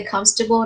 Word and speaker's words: comfortable: Rồi từ comfortable, bạn nào có cái từ sai từ comfortable đó chú ý là it has 3 syllables only, so it's pronounced as comfortable, alright, not comfortable.